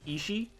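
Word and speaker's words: 意志: Remember how one of the terms for “intention” or “will” in Japanese is pronounced “ishi”?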